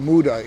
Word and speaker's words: muda: The Japanese use a word called muda. In English, we spell it M-U-D-A, and it's the idea of any sort of waste is not good.